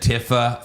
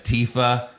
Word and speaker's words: Tifa: I said Tifa, found out it's Tifa. I said Ares, it's Aerith.